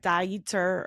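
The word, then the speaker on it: Dieter: was derer crombach and I'm sure it's pronounced like dier or dier or something but it's spelled like derer from lagona Beach so we're we're going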